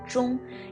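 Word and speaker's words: 钟: the taboo for clock clock in mandarin has similar sound with and in mandarin we call clock jung and so in chinese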